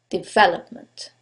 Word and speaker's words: development: the first one development is it the second one development the third one development or the last syllable development in this case it's the second syllable development now you couldn't know